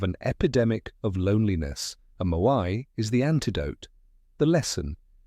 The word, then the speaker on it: moai: Okinawans have lifelong social networks called moai, pronounced moai.